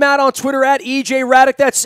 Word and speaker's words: Hradek: him right now EJ Radek is our guest from NHL Network you can find him out on twitter at aj Radek that's h ra de k the H is silent underscore NHL you can